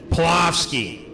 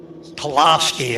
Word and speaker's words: Splawski: Just so you understand how I pronounce that name, Dino. Splawski. Splawski.